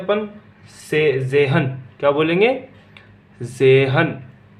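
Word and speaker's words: zehn: जेहन। क्या बोलेंगे? जेहन। इसमें क्या होता है? तय साइलेंट होता है।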